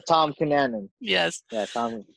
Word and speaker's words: Tom Cunanan: I call him Tim, I call him Tom. It's Tom Cunanan.